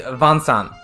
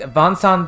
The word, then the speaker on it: Vincent: pronunciation of Vincent so it's not Vincent it's like and but you can't quite say in Japanese so it comes out as like vansan and and this comes